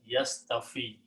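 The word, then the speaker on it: يصطفي: So when you combine this and make the grammar of yaf'alu, this is pronounced as yastafi.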